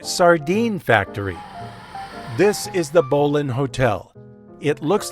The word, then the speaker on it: Bowline: This is the Bolan Hotel. It looks like it should be pronounced Boline, but in a nod to its nautical history,